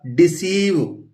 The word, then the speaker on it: deceive: जब यदि EI एक साथ आ जाए तो EI या ये उलट भी दिया जाए IE को हम बड़ी ई प्रोनाउंस करते हैं।